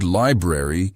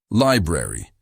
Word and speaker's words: library: The word library can be tricky. Say it slowly. Library. Notice how the middle R sound is soft and the A sounds like uh repeat.